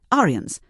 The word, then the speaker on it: Arians: Notice the name Arians pronounced like Aryans.